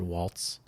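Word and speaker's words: Walz: he pronounces it Tim Walls like a plural of a wall, which is of course everybody's favorite topic lately.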